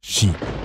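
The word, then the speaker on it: 四: vous l'ignorez peut-être mais le kanji du chiffre 4 et le kanji de la mort ont tous deux la même prononciation ils peuvent tous deux se lire chi c'est pourquoi le chiffre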